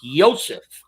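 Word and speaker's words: Joseph: his name said it's yosef that's the way it's pronounced in german he yields gerbils and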